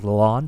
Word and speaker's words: Lalonde: Is it Lalonde?